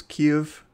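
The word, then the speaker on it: Kyiv: of that word so i will be pronouncing it as kiev um i will try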